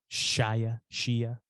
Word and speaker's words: Shia: Shia.